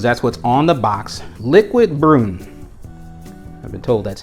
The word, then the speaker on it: Liquid Brun: French avenue cuz that's what's on the box liquid broom I've been told that's how it is pronounced and man this presentation this presentation for